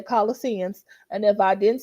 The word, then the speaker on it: Colossians: Let's go to the Holy Bible and let's look at Colossians. I always mispronounce that. I hope I said that right, because I want to say Colossian, but I'm going to say Colossians.